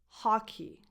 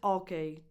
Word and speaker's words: hockey: Number 4, hockey. Hockey. Not okay.